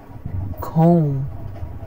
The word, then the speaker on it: comb: right now let's see where to not pronounce the b in English that debt crime climb comb comb tune thumb thumb